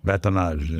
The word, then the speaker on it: batonnage: Batonnage.